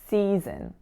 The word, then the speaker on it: season: concept to breakfast so in season the final three letters s o n are not making the word Sun so it's not a c sun it's a SE so it's a ZW